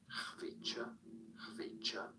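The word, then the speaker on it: Khvicha: It sounds like Hvicha, Kvaratskhelia.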